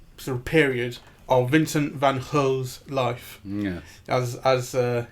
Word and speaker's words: Van Gogh: the last uh sort of period of Vincent Van Ho's life. Yeah. as as uh his brother pronounces it. Everyone in England just goes Vincent Van Go. But that's wrong, right? Vincent Van Hook.